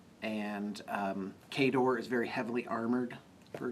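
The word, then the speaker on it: Khador: them and then there's kador officially pronounced cador and uh the this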